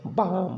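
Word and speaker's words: balm: यल कब साइलेंट होगा? जब यम के पहले आता है तब। जैसे बहुत लोग क्या पढ़ेंगे इसको? कॉलम, मॉलम, प्लॉम, ठीक ना, एलिमेंट। तो यहाँ पर हम क्या पढ़ेंगे? कॉम, बाम, पाम, ठीक है ना, ये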